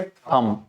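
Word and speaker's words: thumb: थम। थम। इन the same way इट्स not plum. यहाँ पे बी तो साइलेंट हो जाएगा ना, और जब बी साइलेंट हो जाएगा तो हम इसको क्या कहते हैं?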